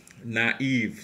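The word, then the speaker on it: naïve: close to each other and both must be pronounced e naive so naive means in English the same meaning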